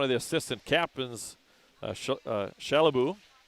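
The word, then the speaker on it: Kallebo: one of the assistant captains, uh, Shalibu. You spell that name K A L L E B O, but it's pronounced Shallabu.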